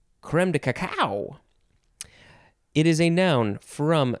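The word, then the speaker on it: crème de cacao: coco and then you can also pronounce it creme or cream cacaico i have never heard of that one i've only heard of the first two but you can say creme de caco it is spelled creme second word d e third word c a c a o i like to say creme de cacao it is a noun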